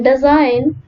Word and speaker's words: design: For example, letter B in bomb, letter C in scissors, G in design, and GH in thought.